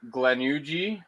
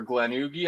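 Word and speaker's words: Glenugie: how to pronounce it glenuji or glenugi i think it's glenuji from 1980 and that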